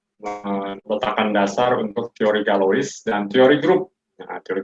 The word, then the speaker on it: Galois: Bacanya mungkin Galois ya. Kalau orang Prancis ya berarti bacanya bukan Galois tapi Galois. Galois. Évariste Galois ya. Galois tulisannya Galois.